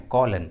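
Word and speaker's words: column: इस ट्रिक के अनुसार एम का उच्चारण नहीं हुआ है, कॉलन, कॉलन।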